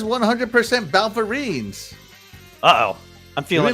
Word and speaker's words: Balverine: Balverine. Yeah. Balverines. Boy, I pronounced right.